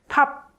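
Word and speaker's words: 밥: And when 비읍 받침 is, so when 비읍 is in 받침, it sounds like pop. So you don't make the actual b sound, but cut that b at the end and just finish it like pop, right? Pop.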